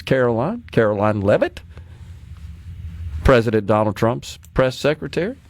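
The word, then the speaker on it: Karoline Leavitt: that this morning but I believe you and I have pronounced that correctly it's Caroline Caroline levit president Donald Trump's press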